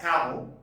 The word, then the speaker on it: Camus: from the French philosopher and novelist Albert Camus, pronounced as Camus, from his novel The Stranger, or it is known as Outsider.